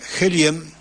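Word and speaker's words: Kjellén: sueco rudolf Helen o se escribe kj elen con elie por eso se pronuncia helien o Helen Sí para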